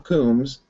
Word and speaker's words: Coombs: Many of them where our guest is, which is Tom Coombs. I think that's how it's pronounced. That is correct.